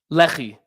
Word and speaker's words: Lehi: the pronunciation so there's no confusion I said Lehi but how did you pronounce it Lei Lei okay so people understand we're talking about